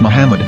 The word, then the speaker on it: Muhammad: the name of the Muslim prophet or as Mahmad with no A after the H. According to Ben Yehuda's Hebrew English dictionary, it is correctly pronounced as Muhammad, not MMA.